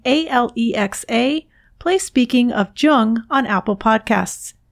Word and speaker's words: Jung: Alexa, play Speaking of Jung on Apple Podcasts. Just be sure to pronounce Jung with a hard J.